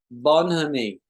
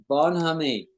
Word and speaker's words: bonhomie: called bonhomie. Bonhomie. Bonhomie. Bonhomie. Yeah. Bonhomie. Let's hear it pronounced properly.